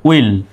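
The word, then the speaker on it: will: আই ওই উচ্চারণ দেবে ডাবল এল শুধু একটা ল উচ্চারণ হবে কিন্তু ডাবল এল আছে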